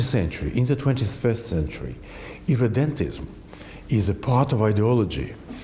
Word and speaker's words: irredentism: Irredentism is How do you say it?